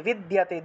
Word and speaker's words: বিদ্যতে: তাহলে তস্য, তস্য ন কিঞ্চিত আপি বিদ্যতে, ন কিঞ্চিত আপি বিদ্যতে, বিদ্যতে দিয়তে উচ্চারণ হবে, তারপরে দিয়তে একসাথে দিয়তে উচ্চারণ করতে হবে, ন কিঞ্চিত আপি न